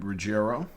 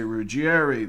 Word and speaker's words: Ruggiero: Some people say Ruggiero. Up north, especially in New York, people say Ruggieri, they say Ruggiero, they say Ruggiero. All of those pronunciations are correct, as the last name can be pronounced about 15 different ways, and it's still correct.